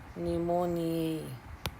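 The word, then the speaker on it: pneumonia: कोकस निमोनिया में आपको जैसा पता है कि पी हमेशा साइलेंट रहता है, निमोनिया।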